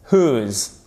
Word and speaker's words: whose: The house whose, prononce pas le W.